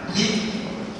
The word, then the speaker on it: pris: Désigne ou recouvre l'ensemble des actes pris, prendre des actes pris. Je prononce ça, c'est ça, pris, le verbe prendre, pris, P-R-I-S, pris par le pouvoir exécutif et les autorités administratives.